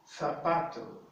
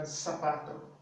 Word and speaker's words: zapato: But in Spain, the Z is pronounced as the C, the TH in the word think, like think. So the TH here in think. So someone from Spain would pronounce this sort of zapato. Latin American zapato. So it's whichever is easier for you, right?